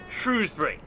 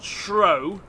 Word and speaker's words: Shrewsbury: argument it is pronounced shrewsbury it's not shro it's not the taming of the shrow it's the taming of the shrew fair enough thank you